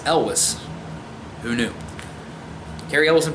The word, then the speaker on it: Elwes: coach Boone and Cary Elwes which I always pronounce his name Cary Elwes I had that's how I thought it was pronounced and I just recently found out no it's Elvis who knew Cary Elwes and Princess Bride as